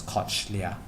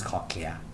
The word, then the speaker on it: cochlea: that you spell wrongly i pronounce to myself as koch leah koch leah yeah um but the pronunciation is called clear like called clear clear okay so yeah